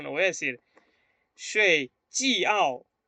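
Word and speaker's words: 饺: Porque cuando yo pronuncio, yo no voy a decir shui jiao o jiao. Voy a decir shui jiao, ¿no? Jiao. remarco en la A. Remarco en la A, no en la I-O.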